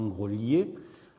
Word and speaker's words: Groslay: Je vous rappelle que la ville de Groslay, comme on dit, se prononce normalement Grolier, le LH étant une transcription de ce L mouillé disparu, de même que dans